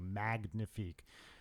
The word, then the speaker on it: Magnifique: Look under Trey Magnifique, and that's with a hard G, Magnifique. It's not pronounced like the French.